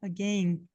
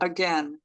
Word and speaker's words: again: pronúncia britânica again ó no britânico eles falam um sonzinho do I aqui ó again em alguns em alguns sotaques e tem a pronúncia americana again Marcos Você lembra que